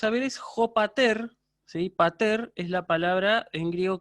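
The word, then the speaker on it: πατήρ: Entonces, pater, con acento agudo al final, pater, padre.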